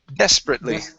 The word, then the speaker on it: desperately: uh the word desperately The stress is at the very beginning Desperately Desperately Okay Very nice